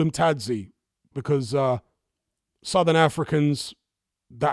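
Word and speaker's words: Thadzi: Africans that I've known, they don't pronounce it as a th way that we would in English. They just pronounce it as the T and a silent H.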